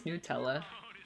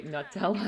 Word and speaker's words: Nutella: I think it's Nutella. That's what they say on the commercials. I always say Nutella. I don't know why I say it wrong.